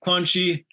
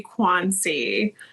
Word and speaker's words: Quanci: we are with Noelle quanchi Gia Lorenzo right yeah I was gonna say we we actually you pronounced it the Italian way um but we say quansi um just because it's